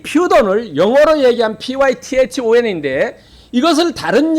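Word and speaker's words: Πύθων: 이 원래는 헬라어로 퓨돈이라고 합니다. 퓨돈. 그런데 이 퓨돈을 영어로 얘기한 python인데 이것을 다른 얘기로 영어식으로 발음하면 사이펀입니다.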